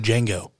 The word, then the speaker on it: Django: The I is silent, just like Django.